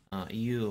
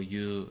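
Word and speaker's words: 言う: Iu or you, I mean, you can use either of these pronunciations just to say something.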